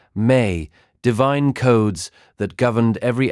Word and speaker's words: ME: The Sumerians also possessed a concept they called the Me, pronounced May, divine codes that governed every aspect of civilized existence.